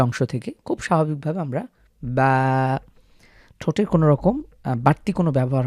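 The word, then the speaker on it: ب: থেকে খুব স্বাভাবিকভাবে আমরা বা ঠোটের কোনরকম বাড়তি কোন ব্যবহার হবে না। আমরা ঠোট মিলাবো না বা ঠোটকে বেশি উন্মুক্ত করবো না। যেভাবে রয়েছে ঠিক সেভাবে আমরা উচ্চারণ করব।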